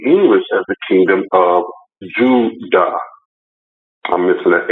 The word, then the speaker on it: Judah: would they say the kingdom of Jude oh no I'm sorry I got it right they spell it j-u-d-a original Behavior the kingdom of Judah why would this journalism